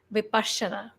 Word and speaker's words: Vipassana: heard him okay and in Pali the word is pronounced differently very differently than it is in English Nepali pronounced as vipashana and when we break